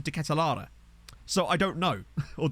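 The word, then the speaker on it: De Ketelaere: more um I like I've heard everyone say it decathlair but every time I've heard someone heard someone who's Belgian say it they've always pronounced it as decathlara so I don't know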